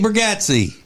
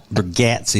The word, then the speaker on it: Bargatze: His name's pronounced Bargatze. So if you're a fan of his and you don't pronounce it Bargatze, then I already know more than you do about it. Well. It's not Bargatze. It's Bargatze.